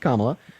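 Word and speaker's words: Kamala: um to vote for Camila you can say I don't know okay so first her name is pronounced kamla uh but I I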